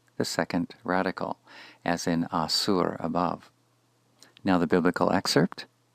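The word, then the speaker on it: אָסוּר: But if instead the focus is on the effect, one who is bound, this is supplied with the call passive participle pronounced asur, asur.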